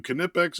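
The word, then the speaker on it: Knipex: Kipex, another German company. I'll give you the K because the K is there and I think it's dumb that we put that K in our language.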